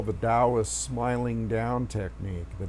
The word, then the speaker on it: Taoist: presence you go into what I call the Dow a smiling down technique the Taoist ta o ist spelt with a t tau tau is smiling down